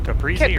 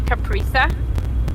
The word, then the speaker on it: caprese: Which Caprese or Capri Sun? caprese, I pronounce it caprese, but it's probably capresa.